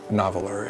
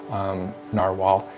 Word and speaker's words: Nahvalur: Little pen sleeve here, plastic pen sleeve, and then the word Nahvalur, which is not Nahvalur. It's actually pronounced Narwhal internally at the company.